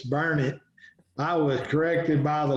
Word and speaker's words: Burnet: time i went to burnett which is not burnett it's burn it i was corrected by the locals in a